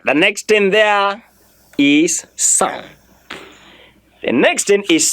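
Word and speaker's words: cent: but S-A-N as in sound. Sound is S-A-N, you pronounce. Of course, in your pronunciation, you must not go san, no, you go sound. Your mouth opens and you don't close it again.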